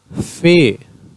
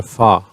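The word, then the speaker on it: ف: Fe, Fe or Fa, both are correct, but generally in Pashto it is called Fe. Qaf, it is pronounced at the inner throat.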